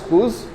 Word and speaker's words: coups: Okay, this pronounced as coups.